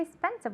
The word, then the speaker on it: expensive: Okay, we don't say expensive, we say expensive. Okay, the X has a KS sound.